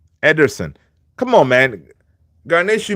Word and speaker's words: Ederson: And yes, his name is not Emerson, it's Ederson. Ederson.